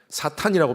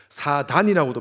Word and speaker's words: 사탄: 사탄이라고 표현하기도 하고 사단이라고도 표현하기도 하고 마귀 또 귀신이라고도 표현을 합니다. 사탄과 사단은 발음상의 차이입니다. 같은 의미입니다. 정확한 음역은 사탄이 맞습니다.